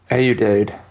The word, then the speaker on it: Ayoade: I'm still going with Ayoade. Ayoade. That's how I pronounce it.